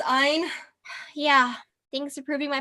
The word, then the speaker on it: Ayn: I never got why anybody would want to read like Ayn Rand. It's pronounced Ein.